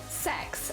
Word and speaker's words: CeX: was like it's sex this is how you pronounce it it's pronounced sex and it's like I'm